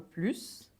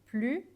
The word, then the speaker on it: plus: than the last one and here I put the Z because the pronunciation was changed to Z because PLU was in front of interesting which start with a vowel and that's a general rule so it's not specific to Blue but when an S is in front of a vowel we switch to Z as a liaison to make it easier to pronounce so surely um I